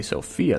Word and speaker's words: Sofia: We do say Sofia, though. Although we don't spell it with the Y. It's just S-O-F-I-A.